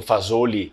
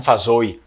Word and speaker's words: Fasolo: de Vicenza que eu já ouvi pessoas falando Fazoli e não Fazoi, né? Mas, por exemplo, aqui a gente fala Fazoi e muitos outros lugares do Vêneto também eles costumam desaparecer essa L na pronúncia, mas outros eles falam essa L.